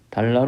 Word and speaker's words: 달아: 때 설정 켝 울림소리 5 건조 영어의 얼 발음입니다 다아라 하면은 알바를 되죠 달아 로열 금연 안되고 달라 로 읽어야 한다는 것입니다 만약에 바로 이루어야 된다면